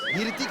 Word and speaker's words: ऋतिक: ऋतिक नहीं, ऋतिक है। नहीं एच साइलेंट है ना।